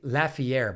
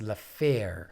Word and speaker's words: Lafayette: keep mispronouncing his name i used to say lafayette but i think it's la faire le faire it's french yeah steve thank you steve